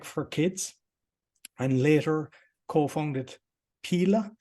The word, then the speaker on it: Pela: In 2008, you founded and scaled Canada's toy shop, Tech for Kids, and later co-founded Pela. Is that how you pronounce it, Pela? Yeah, you can call it Pela for sure.